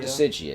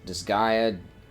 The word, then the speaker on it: Disgaea: it's not Dissidia. It'd be there's no vowel between S and G. I don't know how to pronounce it. It's... Disgaea, Hour of Darkness.